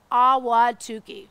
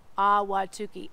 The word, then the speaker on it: Ahwatukee: It's not really little, but it's called Ahwatukee.